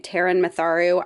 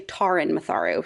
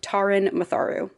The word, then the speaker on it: Taran Matharu: One quick note about this book is I keep saying Taran Matharu. I've only seen that first name pronounced that way, but I started listening to the audiobook and it's actually Taran Matharu.